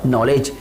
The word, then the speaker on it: knowledge: तो ओवरऑल ये जो नॉलेज वर्ड है, इस नॉलेज वर्ड में 2 लेटर साइलेंट है, एक तो के है और एक डी है।